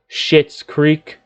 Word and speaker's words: Schitt's Creek: Because, you see, Eugene Levy was in the long-running Emmy-winning TV series called Schitt's Creek. Although it's not spelled like S-H-I-T, but actually S-C-H-I-T-T. But it's still called Schitt's Creek.